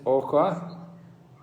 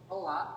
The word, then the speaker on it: Hoa: Miss Oka? Hoa. H-O-A. S-O-A. Soa. Yes. Hoa. Hoa.